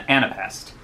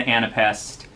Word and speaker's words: anapest: is based on the anapest. An anapest is three syllables with the third being stressed.